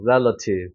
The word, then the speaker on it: relative: 여기 세게 읽으니까 알파벳 E가 강세가 들어가면 에 발음이 나는 경우가 많아요. 그래서 rel 하고 세게 찍어주고 여기는 어떻게 돼요? 수화 발음 약해지니까 relative가 되는 거죠. relative.